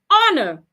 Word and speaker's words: honor: must hear the H but in the word honor the H is silent we should not hear the H of course for words